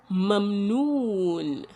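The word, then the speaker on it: مَمْنُون: Mimun, fatha, ma. Then the second letter again is mimun, but this mim has a sukun, and because it is a sukun, it cannot be pronounced on its own, so we are joining it with the first one, mum, and that is why we say mum. Then we have nunun bidamma, nu.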